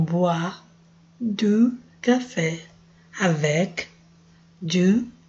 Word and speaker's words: boit: Se lave les visages et boit du café. Boit. Não lê o T. Faz de conta que o T não está aí. O I tem som de UA. Então, boit du café.